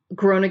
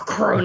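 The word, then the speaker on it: Groningen: a big campus um groan in the Netherlands which I'm not pronouncing right because you're supposed to do the gutural r gron again which I can never do uh that's another awesome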